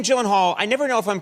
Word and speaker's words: Gyllenhaal: name is it not it is a Swedish name so shouldn't it be like oh my God I have the only two places that that is pronounced correctly my last name like you did just now is in Sweden uhhuh and in Ikea Ikea okay in the